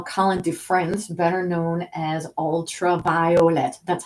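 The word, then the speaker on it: Ultra Violet: Dufresne, better known as Ultraviolet. That's how she said her name. She specified she wanted every syllable pronounced, so it's ultraviolet.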